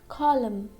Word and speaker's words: column: Means letter N is silent when it comes at the end of the word and before letter M. For example, column, column. We can't say column, column. That will be wrong.